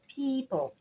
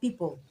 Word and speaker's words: people: we have the word people so that word is not people but people you pronounce the long e sound that will help you